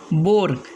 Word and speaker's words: boar: सबसे पहला रूल्स है, अगर ओ के बाद ए आ जाए तो ए साइलेंट होगा। अगर ओ के बाद ए आ जाए तो ए क्या रहेगा? साइलेंट रहेगा। जैसे कि पहला वर्ड्स है बोर, BOAR बोर, यहाँ ए साइलेंट है।